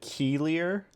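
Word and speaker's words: Keilier: say it again k-e-i-l-i-e-r I'm gonna pronounce it Keeler all right keelier okay yeah okay you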